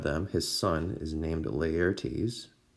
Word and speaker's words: Laertes: Okay, one of them, his son, is named Laertes, Laertes, and his daughter named Ophelia. So I know Laertes is spelled a little bit strange, but it's not a weird pronunciation. It's just Laertes, okay?